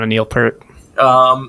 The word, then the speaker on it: Peart: pronounced Peart.